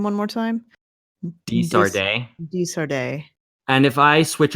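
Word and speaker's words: De Sardet: Desarde.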